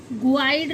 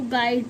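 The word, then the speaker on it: guide: जी यू आई डी ई गाइड गुड नहीं पढ़ते इसको गाइड पढ़ते हैं।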